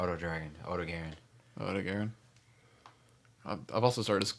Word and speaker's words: Odogaron: Odo Dragon? How do you say it? Is O-D-O. Dragon. Dragon, yeah. That's why I call it Odo Dragon. Like, that's literally... No. It's Odo Garen. Yeah, Odogaron.